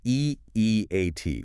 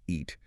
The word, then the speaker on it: EEAT: It's EEAT, one letter at a time, not EAT.